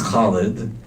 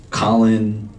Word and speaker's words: Khalid: intended to be called my name is Khalid and growing up people butchered my name in all different kinds of ways Khalid Colin I don't even know what and every time that